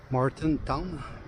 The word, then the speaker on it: Martintown: Martintown, si on veut le prononcer comme il faut.